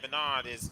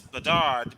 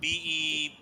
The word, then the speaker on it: Bedard: Now, if Chicago does in fact select Bedard, I know I pronounced the name Bernard. It's Bedard, B-E-D-A-R-D.